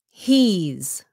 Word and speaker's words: he's: Sounds like a Z. Say he's. Okay, quý vị, pronounce with the Z sound chứ đừng có làm cái sound S nhé. Không phải là he's. Not he's. He's.